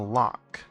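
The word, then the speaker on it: loch: There's in between some trees on the first curve on the way to the lock. Oh, what's a lock? Note that it's spelled with L O C H.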